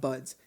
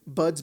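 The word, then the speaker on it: Budz: If you're talking to somebody who needs my last name is not Buds. It's Buds, B-U-D-Z, Buds.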